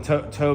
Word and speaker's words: TOW: Tow missile. Tow missile. I think I was mispronouncing it. TV missile, tow missile right there.